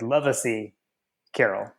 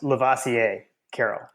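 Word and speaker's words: Lovasea Carroll: I think you had we have referred to him as like love ay Carol is what I thought but it's actually pronounced lavasier Carol so he is now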